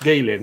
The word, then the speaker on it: Galen: dolls the guy who played dr richard galen pronounced gaelian even though it's spelt with an e only died in may of this year age 106.